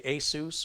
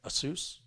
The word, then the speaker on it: Asus: and it's uh affordable MLG turis as I pronounce it noctua yeah people say Asus or Asus I met the president of assus America North